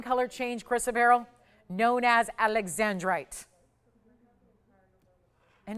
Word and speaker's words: Alexandrite: It's not Alexanderite. Alexandrite. Save yourself a syllable.